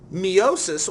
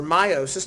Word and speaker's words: meiosis: or without sexual reproduction meosis or meiosis depending on how you pronounce it um is how we